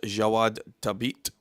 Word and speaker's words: Jawad Tabit: on the chat and spelt the name for me because I was constantly trying to pronounce it. And he spelt it for me as Jawad, Jawad, which is obviously different to how it's spelt, but he was helping me pronounce it. And it is obviously said as Jawad Tabit.